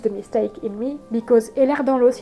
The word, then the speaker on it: Ehlers-Danlos: mistake in me, because Ehlers-Danlos in French kind of sounds like that you have air, like A-I-R, the thing you breathe. Sorry, I can't pronounce that word, air. It sounds like you have air in your bones. Air dans l'os, that you have air in your bones.